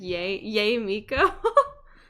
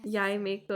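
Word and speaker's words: Yae Miko: I always say it like Yay Miko. That won't be Yai Miko, Yay Miko.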